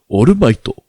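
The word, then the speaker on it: オールマイト: And it's not All Might, it's Orumaito.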